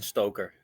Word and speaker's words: Stoker: I uh good morning yeah it's stoker that's that's will do it perfect there were far more difficult names to pronounce in the tennis world that is for